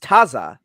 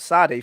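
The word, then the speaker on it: Tsade: evidence do you have that it was pronounced taza instead of sade because all the evidence seems to point in the direction of sade from the ancient israelites themselves in the form of transliterations whereas your innovation of taza doesn't come into the equation until the you know the 20th century it seems so if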